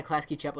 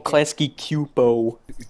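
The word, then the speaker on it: Klasky Csupo: chapo everything made my klasky chapo is like shitty looking Oh klasky q po - PO it's chapo well it could be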